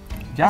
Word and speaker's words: llajua: En Bolivia la salsa típica que usamos para los asados se llama llajua. ¿Yajua? Así se pronuncia y se escribe llajua, con J también.